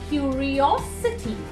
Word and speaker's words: curiosity: Here it's curiosity, osity. The O is told more strongly.